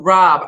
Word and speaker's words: Robb: Guys, and if you want to become a sponsor, you can reach out to Robb, R-O-B-B, 2 B's. The second B is silent.